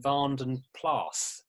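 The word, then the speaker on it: Vanden Plas: than anything else, and because it's a Flemish name, it's actually pronounced Vandenplaas, which is kind of exaggerating a little bit. You say the S on the end, it's not a silent S.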